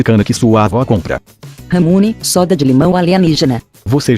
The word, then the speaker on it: ramune: Esse Ramune nada mais é que a pronúncia errada dos japoneses para lemonade em inglês.